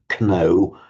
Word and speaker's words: know: gnosis in Greek, and our English word to know. We write the K but don't pronounce it.